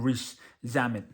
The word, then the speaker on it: Rees-Zammit: A lot of people weren't exactly sure how to say his name, but it's Lewis, like Lewis, but obviously it's spelled Louis, and then Rees-Zammit.